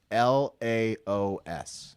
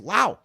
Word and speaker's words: Laos: let us know that the s in Laos is actually silent so it's loud it's a silent s